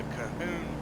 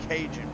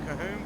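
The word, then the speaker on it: Cajon: It's called the Kahoon Pass, not Kinjun Pass, but Kahoon Pass.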